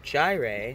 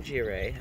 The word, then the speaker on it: Jireh: about to die so called Jireh not giray I was pronouncing it wrong Family Farms Emmanuel gave